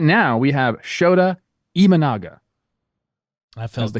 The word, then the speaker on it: Imanaga: more tough names right now we have shoda imanaga I the correct way to pronounce it so we're trying people that's all